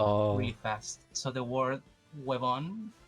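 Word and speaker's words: huevón: we Chans speak really fast so the word webon it's usually pronounced wayon oh so and and that's what that's what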